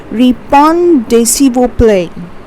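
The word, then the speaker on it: Répondez s'il vous plaît: Now see, it is pronounced as répond s'il vous plaît.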